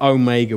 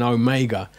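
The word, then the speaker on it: ὦ μέγα: then finally we got Omega which everyone knows which is home that sorry the long Oh in home that Oh as opposed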